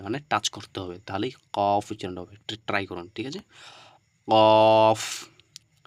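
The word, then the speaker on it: كاف: দিতে হবে কি Caফ কাফ ঠিক আছে এভাবে করে উচ্চারণ করতে হবে কাফ কাফ মানে হচ্ছে এই কাফ উচ্চারণ করতে গিয়ে আমাদের জিহবা একদম মাঝখানে কিন্তু থেকে যাচ্ছে কাফ কাফ একটু করে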